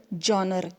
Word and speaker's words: genre: So today, novel is recognized as the most dominant literary genre. See the word genre, G-E-N-R-E. Some people pronounce it as genre also.